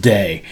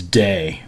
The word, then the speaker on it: Deigh: but it's Day. It's spelled Deigh, but it's pronounced Day.